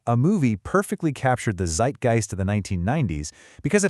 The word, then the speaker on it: Zeitgeist: Zeitgeist. This word comes to us directly from German.